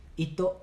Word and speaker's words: Hito: Se escribe H-I-T-O, H-I-T-O, Stellar, Ito Stellar.